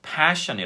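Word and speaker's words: passion: 쓰시는 분들이 있습니다 그래서 그럼 열정 을 의미할 때는 파 션이 라고 하셔야 되고요 우리 옷을 입는 이유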